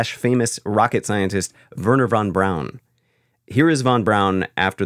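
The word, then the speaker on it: Braun: and by the way I thought it was Vernon Bron always no because of like Eva Bron yeah no I got that yeah it's not no no on brown brown but it's spelled Brown yes so don't call me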